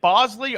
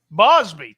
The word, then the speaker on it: Bosby: I think I'm pronouncing dude's name wrong, but the MVP to me is it Bosley or Bosby? Bosby, Tim Bosby.